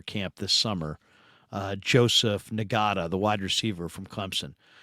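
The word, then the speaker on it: Ngata: to get him signed I think nada's uh nagada I should say some guys pronounce it NADA he's nagada so it was the guy for the Ravens was not uh this guy's nagada but um receiver five-star Prospect coming out of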